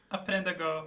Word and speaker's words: Aprenda Go: How is it pronounced? Aprenda Go. The R is a lot softer.